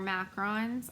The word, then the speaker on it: macaron: cajun um like patisserie these are not macaroons they're macarons i think and the